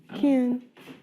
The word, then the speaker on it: Ken: Kin. He says kind of like kin, like Yeah, like kin. like Like siblings, yeah. like but kin, Ken.